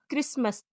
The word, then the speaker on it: Christmas: टी का अगला rule है, टी के पहले एस हो या टी के बाद एल और TCH के कॉम्बिनेशन में टी साइलेंट होती है। जैसे CASTLE काजल, इसको कास्टल नहीं बोलेंगे बल्कि बोलेंगे काजल। BUSTLE बजल, LISTEN listen, CHRISTMAS क्रिसमस, MATCH match, WATCH watch.